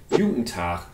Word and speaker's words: Juten Tach: Tag, or in Berlin, Guten Tag, which reflects the regional pronunciation of the German Guten Tag.